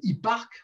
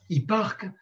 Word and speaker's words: Hipparque: Les signes du zodiaque ont été nommés et établis à l'époque d'un astronome dont je reparlerai, qui s'appelle Hipparque, ça s'écrit H-I-2-P-A-R-Q-E, Hipparque, au IIe siècle avant Jésus-Christ.